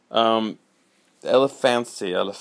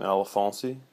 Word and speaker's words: Elefancy: Elefancy, if you want to, that's the correct pronunciation, Elefancy, and this is just a print looking thing,